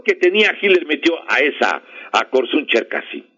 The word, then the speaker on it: Korsun-Cherkasy: Se llama la batalla de Korsun-Cherkasy. Korsun se escribe con K-O-R-S-U-I-N. Korsun-Cherkasy, o Cherkasy, con doble S y E. Y la K, perdón, la C es de la K.